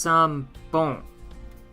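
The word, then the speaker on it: 三本: up up above sambon the pronunciation changed some but the spelling is what the countries are saying but it's pronounced some bone and this means three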